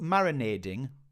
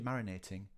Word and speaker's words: marinating: magic oh marinating uh has put marinading which uh a lot of people say because I think they've heard Americans say Marin marinating but it's actually marinating marinate uh yeah to